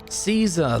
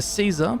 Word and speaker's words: Caesar: Now, Caesar/Kaiser, different pronunciations for the same dude, is one brutal character in the Fallout lore. And the card is just about as scary. A Caesar born Edward Salow is